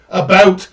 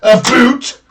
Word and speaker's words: about: speak english in french not american and i pronounce it about not a foot i can proudly sow my country's flag on